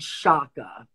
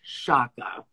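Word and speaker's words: Sciacca: One of the types of Sardinian or Mediterranean coral is something called shaka, S-C-I-A-C-C-A, pronounced shaka.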